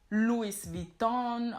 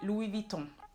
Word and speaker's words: Louis Vuitton: a lot of times Louis Vuitton or Louis Vuitton, but in French it's actually Louis Vuitton. Louis Vuitton. Louis, you don't pronounce the S at the end because it's French, it's a silent S.